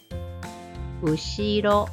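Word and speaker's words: うしろ: Ushiro. Ushiro. Once again, you see R here, but let's pretend this is L.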